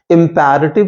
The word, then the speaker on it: imperative: उनको हम कहते हैं इंपैरेटिव सेंटेंसेस। याद रखिएगा, इंपरेटिव नहीं कहते हैं। Generally people pronounce it एज imperative. Even teachers do pronounce it, but it's absolutely wrong. So you'll pronounce it as imperative.